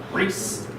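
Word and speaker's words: χωρίς: Here's your first appearance of the omega. That's the first time you have a long O sound. So you have choris.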